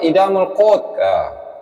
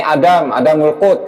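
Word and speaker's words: إدام القوت: Bacanya aja salah tuh, Idamul Qut. Ini Adamul Qut katanya.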